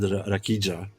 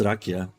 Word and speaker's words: rakia: well in the oh he couldn't Pro pronounce rakia he said rakija it's rakia but this is a Serbian